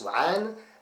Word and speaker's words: 3NE: Donc en fait on prononce Wa'an, mais en fait en réalité c'est Wan.